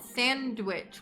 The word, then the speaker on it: Sandwich: mad lebs there's also a place called sandwich which is pronounced with the w is that where sandwiches